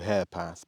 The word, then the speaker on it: Herepath: I'm on the track now, which is, I've been told it's called Harepath, but it's spelt Herepath, H-E-R-E, Herepath. So it's here, we're here at Herepath.